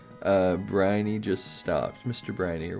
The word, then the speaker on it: Briny: Briny, yep, that's how you say it.